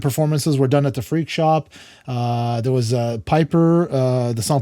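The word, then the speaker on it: Freq Shop: It's FREQ, like frequency. So that's kind of where that comes from. We got a lot of Frex, but Freak Shop.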